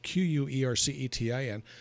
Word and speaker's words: quercetin: i use something called quercetin which is spelled q-u-e-r-c-e-t-i-n or quercetin if you're from the uk and quercetin is interesting